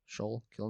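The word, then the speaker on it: Schuylkill: no there's no way is that how you pronounce it sh probably sh kill notes but they're like here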